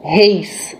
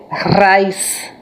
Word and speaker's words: Reis: são imigrantes alemães Então esse nome não é pronunciado como Reis como nós temos muita família Reis aqui que são descendentes portugueses a pronúncia correta de desse do nome dele Vaz Vaz com a que significa em alemão arroz